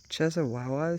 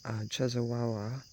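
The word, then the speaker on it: Częstochowa: Her most famous shrine is at the Jasna Gora Bright Hill Monastery in the town of, I can't pronounce these names, I'm sorry. It's Chezawawa, Czestochowa.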